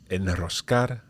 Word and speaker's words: enroscar: So the rule is that when the R comes after one of those three letters, you have to pronounce it strong, vibrant. Okay, so Israel, honrar, enroscar, alrededor.